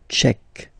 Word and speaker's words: tchèque: So remember, Q-U-E, K, tchèque. La, and then here as well, République. La République tchèque.